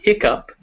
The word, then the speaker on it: hiccup: dough others may stumble but not you on hiccup thorough slough and through well done and now